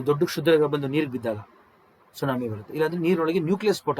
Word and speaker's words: tsunami: ಸುನಾಮಿ ಅಂತ ಕರೀತೀವಿ ನೋಡಿ ಸುನಾಮಿ ಟಿ ಸೈಲೆಂಟ್ ಆಯ್ತಾ ಟಿ ನ ಉಚ್ಚಾರಣೆ ಮಾಡಂಗಿಲ್ಲ ಟಿ ಸೈಲೆಂಟ್ ಸುನಾಮಿ ಅಂದ್ರೆ ಜಾಪನೀಸ್ ಪದ ಅದು ಹಾರ್ಬರ್ ವೇವ್ ಅಂತ ಕರೀತೀವಿ